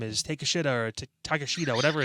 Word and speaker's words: Takeshita: It's Takeshita. Okay, that's what it was. It's Takeshita. I remember it, but it's spelled. I can't even I can't mess with you guys. Take a shita is what it spells out.